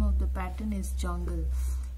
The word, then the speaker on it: Jonqal: of the pattern is Jongle. Yes, although it is spelled like Jonqal, but it is generally called as jungle.